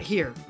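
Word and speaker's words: chi: And later on, they came up with the idea of this Chad right here. This is Grencye. Well, actually, it uses the Greek letter for X, which I learned is pronounced he.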